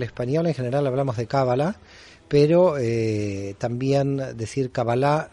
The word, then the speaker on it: cábala: nuestra propia evolución Mario es cábala con el acento en la primera eh vocal cábala o cala eh A